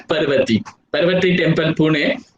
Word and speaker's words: Parvati: Some people maybe pronounce it as the Parvati, but it's called as Parvati.